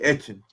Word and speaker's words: Etienne: interview on tv and they asked him how to pronounce the name this man said in southwestern you supposed to say action okay action yeah that's